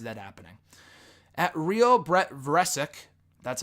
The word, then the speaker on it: Vresic: At Real Brett Vresic, that's how you pronounce it, from Twitter, is putting the Universal